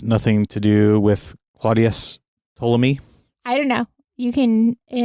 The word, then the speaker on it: Ptolemy: Well, that was the word that came to my mind when you said polemic was Ptolemy because of the silent P in the beginning.